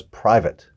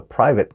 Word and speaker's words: private: The wrong word was private. Some students call it private because it has an A in it, but we don't really pronounce it that way.